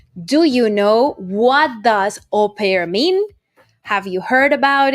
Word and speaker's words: au pair: u space p a i r that is au pair it is not a word in english that